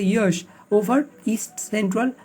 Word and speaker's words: Yaas: Cyclonic storm यश pronounce एज ए यश over east central bay of Bengal पे ये reach करेगा।